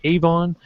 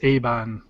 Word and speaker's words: Evangelion: I know some people would say Avon. In Japanese, it's Shinseki Evangelion. Because there's no V phonic. It's Eban. Like the pronunciation is quite weird.